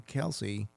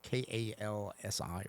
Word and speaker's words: Kalshi: Well, how do you pronounce it? I think it's Kalshi. Kalshi, it's what, Kalsi or something. Yeah. I think there's an H in there somewhere, but SHI. SHI.